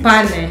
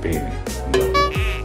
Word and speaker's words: pane: Like it's pane. Pane. Okay. They would say pene. What do you want? So be careful. Attenta, attenta persone, attenta people. Be aware about this word. You don't say pene because it means penis.